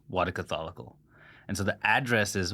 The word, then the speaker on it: Wadaketh: no no I pronounce it wrong I I had it right right v no V Catholic what Catholic perfect you forgot the case Catholic that's a